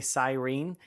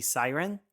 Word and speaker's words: siren: from Michigan now but there are certain words like Cyrene like on an ambulance I say Cyrene but really it should be siren that's how they say it Michigan